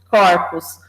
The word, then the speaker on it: corpo: em relação a pronúncia corpo o primeiro o é fechado né Toda a gente vai para corpos é aberto ou seja tanto essa